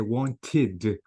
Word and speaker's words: wanted: Notice the verb here. If I want to say want in the simple present, in the simple past, I have to say wanted. So notice I pronounce the e sound because the verb ends with what? With t. Notice a chat, I have to say chatted. Again, I pronounce the e because the verb ends with t.